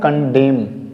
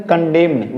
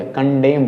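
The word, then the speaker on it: condemn: पास यम है, तो यहां भी हम एन को यूज नहीं करेंगे, यानी कि साइलेंट बनाएंगे, इसे क्या पढ़ेंगे हम लोग, कंडेम, क्या बोलेंगे, कंडेम। बहुत सारे बच्चे बोलते हैं कंडेम, वो गलत है, कंडेम बोलेंगे, कंडेम, एन का हम इस्तेमाल नहीं करेंगे, ये एन को हम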